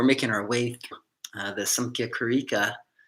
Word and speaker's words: Samkhya: our way uh the samkhya karika sometimes it's pronounced sankia with an n uh here i'm using